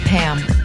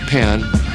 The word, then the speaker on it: Pam: and large Med resources Lady it's actually it's Pam I'm sorry well pan no my name is Pam I thought you